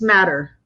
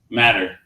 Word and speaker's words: MATR: one real quick um how do you pronounce the company and the name of the company for folks I just want to get that right it's matter matter got it matter matter